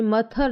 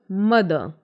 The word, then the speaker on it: mother: पढ़ेंगे, टुगेथर नहीं पढ़ेंगे, मथर नहीं पढ़ेंगे, इट्स फेदर टुगेदर मदर। एक चीज़ को और ध्यान रखना है, जो लास्ट में आर है उस पर ज़्यादा प्रेशर नहीं देना है, ठीक है, ये थोड़ा साइलेंट रहेंगे।